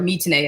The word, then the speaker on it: 3tene: And again, 3Tene, or Mitene as it's pronounced, to actually get it to.